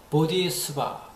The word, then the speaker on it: bodhi: 반복된 거 다 피하고 오늘은 보디수바 중에서도 그 유명한 보디 산스크리트어 발음으로 팔리어가 아니고 보디입니다. 보디.